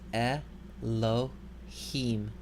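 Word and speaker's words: אלהים: Here we have a word that begins with a segol schwa, pronounced e. So this word is Elohim.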